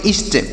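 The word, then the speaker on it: east: हो जाएगा आराम ई ए एस टी तो इसे क्या पढ़ेंगे ई ए से पढ़ेंगे ई और एस से पढ़ेंगे श टी से पढ़ेंगे ट तो इसे पढ़ेंगे इष्ट क्या पढ़ेंगे इष्ट इष्ट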